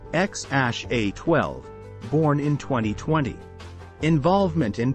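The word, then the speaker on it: X Æ A-12: They have a son together, named XAA She, pronounced X-A-12, born in 2020.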